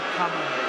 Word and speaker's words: Kamala: You have to pronounce it Kamala.